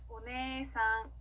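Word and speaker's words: お姉さん: 오네상, 오네상. 네, 꼭 길게 늘려주시는 거 포인트 기억해 주시고요.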